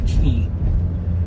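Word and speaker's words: Quay: Once we cross past the farmer's market, we're now in the River Key. It's spelled Q-U-A-Y, but it's pronounced Key, and a key is like a wharf area or an area where it's close to a shoreline.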